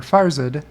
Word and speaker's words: Farzad: i should start from the top here uh farzad mizbahi or farzad if you want to pronounce it correctly at farziness over under tesla